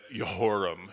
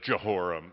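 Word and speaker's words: Jehoram: like you're a scholar start pronouncing it that way and say you know that yahoram instead of johoram you know no it'll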